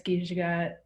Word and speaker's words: Giizhigad: if anyone wants to follow me, it's Gijagat.